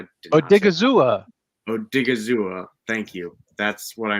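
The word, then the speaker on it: Odighizuwa: But I'll go with, I'm going to again butcher the name. I apologize. But Odigabuzwa. Odigizua. Odigizua.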